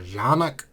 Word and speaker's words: Canik: because I understand that country of origin, it's pronounced Canik or Canik, something like that.